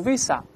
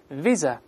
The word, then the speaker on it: visa: 证，叫 visa，注意不要读 visa，中间发 z 的声音，在里面 visa， visa，这叫签证。